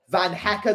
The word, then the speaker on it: Van Hecke: Van Hecker, that's how you pronounce his name.